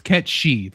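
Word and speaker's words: Cait Sith: It's Ketshi. That's right. Ketshi. I think that's actually the appropriate pronunciation. I don't know if they actually say that in game though, but I think that is like the actual real world pronunciation.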